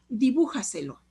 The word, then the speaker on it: dibújaselo: Por ejemplo, dibújaselo. Dibújaselo. En bu se acentúa y entonces es última, penúltima, antepenúltima, antes de la antepenúltima sílaba.